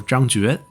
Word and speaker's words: Zhang Jue: It's the same character with two different pronunciations. And CA probably has it right, because the old way to pronounce it is actually Jue.